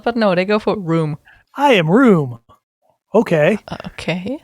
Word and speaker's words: Raum: Yes, it is fucking room. Oh, Raum.